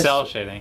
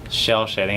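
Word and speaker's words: cel shading: cell cell shading yeah I thought it was shell no that's why I made fun of you earlier cuz I thought you said it wrong and I'm like it's cell shading I swear to God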